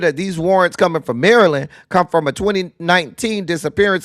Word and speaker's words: Maryland: Not Maryland Merlin. Maryland. But what's wrong with them Maryland people can't pronounce words?